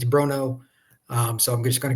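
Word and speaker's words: Bronaugh: spelled the last name it doesn't sound like it's spelled it's b r o n a u g he told me it's Bruno um so I'm just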